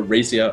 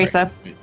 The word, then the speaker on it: Raisa: I did heal Raisa, right? Or Racia, or however you pronounce her name. I'm sorry. Raisa.